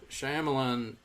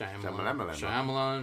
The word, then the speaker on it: Shyamalan: movie better writing better directing um you know Shyamalan I love Shyamalan but he say his name I think sh Shyamalan Shyamalan he he makes some Clunkers like after